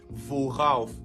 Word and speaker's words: worauf: Maintenant, on met un R pour faciliter la prononciation. Ça deviendra donc worauf.